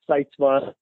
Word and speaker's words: Sytsma: very good very good uh sitma yeah sitma is the the way I pronounce it although I've been confronted by Dutch people that say you're saying it wrong um but that's how we say it so we're gonna stick with it perfect let's talk a